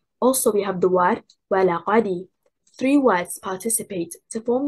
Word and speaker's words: ولقد: The stress is on حركة الواو and حركة الهمزة. The first and third حركة.